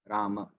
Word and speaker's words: Rama: The Ram itself has 4 syllables. Ra, A, Ma, A. Rama.